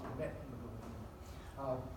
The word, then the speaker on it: methemoglobinemia: Now, methemoglobinemia, I'm going to pronounce it correctly. My wife laughs at me when I say methemoglobinemia. It's methemoglobinemia.